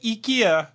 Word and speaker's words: Ikea: bed one side is please my pronunciation of Ika go ahead no no no you you said eeka perfectly Gora bed perfectly I